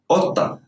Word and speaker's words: قطة: Here's the cough is pronounced like a glottal stop. O. قطة.